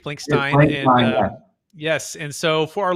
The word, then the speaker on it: Blankstein: transactions please welcome the show with me randy blankenstein uh randy how you doing sir good how are you bro thanks for having me and it's blank stein let me pronounce that correctly blank stein yes and so for our listeners getting to